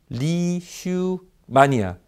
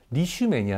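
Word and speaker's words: Leishmania: 자 다음 질환 볼까요 발음부터 어려워요 한번 다시 같이 읽어볼까요 자 리슈 만이야 무슨 매니아 라구요 아니고요 리슈 매니아 라고 하는 원충 입니다 원츄 이라고 하면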